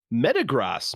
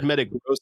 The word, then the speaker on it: Metagross: i say well okay let me look at the how to say it met uh gross it still spells it the same in the pronunciation g-r-o-s-s i can only imagine it's saying gross metagross all right we were